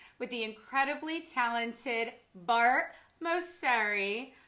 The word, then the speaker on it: Mauceri: started with matcha talk with the incredible Bart moseri hello everyone and thank you so much for joining me on this wonderful episode of matcha talk with the incredibly talented Bart moseri pronounced in Italian as Bart moer did I say that right uh moer moer